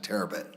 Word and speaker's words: Terabit: how you pronounce it terabit okay that's that's how I would pronounce it uh almost like a terabyte but not quite um he came to